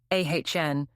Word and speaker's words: AHN: It had the stupid name, every grant makes you mint, adaptive habitat node, ahn, pronounced like a sigh.